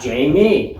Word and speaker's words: Jayme: Jayme. I didn't have any problems with it. But people do mess it up. People do mess it up. They could go I had Jame, where the E is silent.